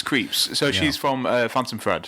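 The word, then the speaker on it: Krieps: But also Vicky, I'm going to find out how to pronounce her surname. But I'm pretty sure it's Creeps. I think it is Creeps.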